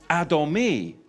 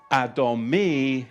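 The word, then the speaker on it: אדמי: But I just don't want to move on because when you look at the Hebrew, the Hebrew for ruddy is adomi. Adomi. And it's spelled olive dallet mem noon yod.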